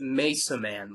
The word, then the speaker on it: Mesa Man: It's pronounced Mesa Man. Like, you know, like Mason but with man at the end.